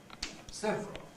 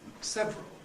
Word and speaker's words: several: changes this into several now I think what we mostly say is several and I suspect there are many speakers who have no other possible pronunciation than several who don't have the option of several left anymore because if one always says